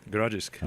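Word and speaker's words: Grodziskie: Grodzisk.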